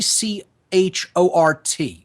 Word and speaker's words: Chort: And it's spelled T C H O R T. Chort.